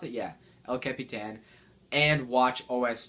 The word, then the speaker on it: El Capitan: alongside OSX, LC Capitan, is that what you pronounce it? Yeah, El Capitan and Watch OS 2.